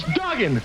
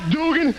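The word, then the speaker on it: Duggan: guy a right now my name's Dugen not Dugan Dugen with two G's I'm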